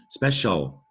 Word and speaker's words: special: the time you know the word special that ci sounds like special you may have mistakenly spelled special with an sh before here's the word social